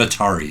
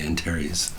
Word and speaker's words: Antares: Not Atari, Antares. Antares, yeah. So they put that stuff in here, like vocal processing.